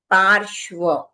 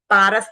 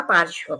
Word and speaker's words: पार्श्व: सुपार्श्व पार्श्व पारस नहीं है। पार्श्व पारस तो हमने कर दिया। उनका नाम था पार्श्व प्रभु।